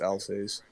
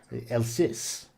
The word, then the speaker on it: Alsace: however you pronounce that i think it's alsace you have to say it with uh that sort of you know el sis uh you know i